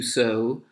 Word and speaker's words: sew: of so and then you have to sow as ii w and it's pronounced just the same way so and what that is